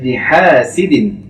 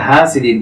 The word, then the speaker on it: حاسد: شر حاسد إذا حسد এখানে আমরা যে ভুলটি করি ومن شر حاسد অনেকে হাসিদিন পড়ি এটি ভুল হবে হাসিদিন ومن شر حاسد إذا